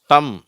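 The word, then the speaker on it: thumb: Dwayne two சரி அடுத்தது எம் பி இந்த இரண்டு எழுத்துக்கள் சேரும் பொழுது இந்த பி சைலென்ட் ஆயிடுது சரியா இத வந்து எப்படி படிக்கணும் இம்னு படிக்கக்கூடாது அப்படின்னு படிக்கணும் அவ்ளதான் பியும் சேர்ந்து வந்தா இது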